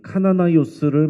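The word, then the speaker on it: Καναναῖος: 성경의 나이는 무슨 약이냐면 헬라어로 카나나 요스를 이렇게 우리말로 부르기 쉽게 이렇게 써 놓은 것입니다 정확하게는 헬라어인이 카나나이오스를 말하는 거예요 자이 말은 열심당을 뜻합니다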